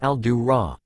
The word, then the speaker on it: Aldora: Well, human, I am Aldora, but it is pronounced Al-Du-Ra, not as you would see it spelled in your tongue.